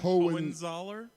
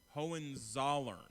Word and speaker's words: Hohenzollern: Hohenzollern? Hohenzollern. Hohenzollern.